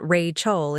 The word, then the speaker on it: Rachel: Even the way he said my name, he'd always pronounced it Ray Chol instead of Ratchel like everyone else.